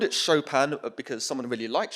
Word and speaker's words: Chopin: because someone really likes chopin um and there are a bunch of people who didn't know how to pronounce his name and apparently it sounds a lot like shopping if you say it badly so that was a